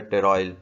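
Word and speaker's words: pteroyl: Vitamin B9 भी कहते हैं, विटामिन BC भी कहते हैं, विटामिन M भी कहते हैं, लेकिन और जो है टेरॉयल, P साइलेंट है, टेरॉयल L ग्लूटामेट भी कहते हैं फॉलिक एसिड को।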